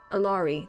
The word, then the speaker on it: Allari: How do you say her name? Allari. That's right. It's Ari.